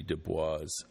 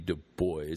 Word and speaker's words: Du Bois: you who don't know w.e.b du bois i think is the proper way to say it w.e.b du bois um was an african-american